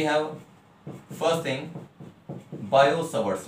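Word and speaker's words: Biot-Savart: अब देखिए बच्चे, we have first thing बायो-सवर्ट्स लॉ। बायो-सवर्ट्स लॉ, तो कुल मिला के बात ये हुई, देखो लिखते हैं BIOT बायो, बट we pronounce that bio, बायो-सवर्ट्स लॉ।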